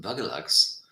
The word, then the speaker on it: buglugs: on and it says bug lugs pronounced bugalugs noun one friendly nickname